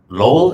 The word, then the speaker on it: Lowell: have um our 168th store being open in lowell is how you say it in low i